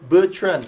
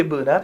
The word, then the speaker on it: Bertran: Bertran I nearly say Bernard you know I I nearly call your name wrong you know Mr.